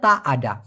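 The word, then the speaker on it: tak ada: এভাবে অনেকে বলে তারা মূলত তারা বলতে হচ্ছে তা আডা এটাকেই বিকৃত করে চাইনিজরা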